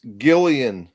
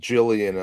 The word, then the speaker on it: Gillian: By the way, Mike, it's Gillian Welch. I'm sure that's what I said. I thought you said Jillian on one of your videos.